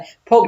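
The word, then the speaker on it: folk: क्या कहा जाता है लोक डांस यहां पर जो ल बोर्ड आया है ना ये साइलेंट है क्या है दोस्तों यहां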